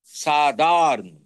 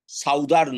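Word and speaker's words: Southern: করো হয়েছে যেমন দেখো সাউথ সাদার্ন উচ্চারণটা চেঞ্জ হয়েছে হচ্ছে সাউদার্ন নয় সাধারণ সাউথ লেখো স্পেলিংটা ই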